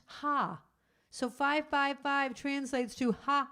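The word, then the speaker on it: ห้า: Because the numeral 5 is pronounced ha.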